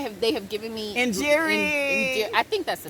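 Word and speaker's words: Njeri: show you how far off that and jerry is spelled n-j-e-r-i right and so and jerry is so it's popular like karen here so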